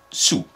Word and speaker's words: saoul: se prononce au masculin le l ne se fait pas entendre et la seule chose qu'elle met c'est voir s puisqu'elle nous y invite allons-y s sous au féminin au masculin l'elle ne se fait pas entendre donc visiblement faut prononcer sous bon elle simplifie pas